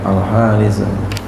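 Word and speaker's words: الحارث: Ini walaupun enggak ada alifnya tetap bacanya begitu, al-haris.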